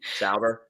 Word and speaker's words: Sauber: Sauber.